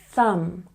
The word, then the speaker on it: thumb: examples lamb comb thumb remember with thumb you have to put your tongue between your teeth for the th sound thumb thumb good and we